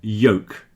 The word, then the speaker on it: yolk: So this word folk, some people might say folk with an L, but most people say folk rhymes with coke. And yolk, the middle of an egg is a yolk.